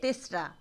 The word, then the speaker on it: তেসরা: বলে তিনরাও নয় ওটা বাংলায় লেখা হয় তিনরা করে কিন্তু উচ্চারণ হবে তেসরা অর্থাৎ তিন তারিখ আষাড়ের তিন